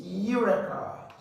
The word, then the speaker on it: urea: this word okay is urea urea so the first sound is U okay and then you are going to have you you're going to have a u UA so there are three vows here actually cross this off